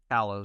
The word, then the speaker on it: Kalos: Kalos.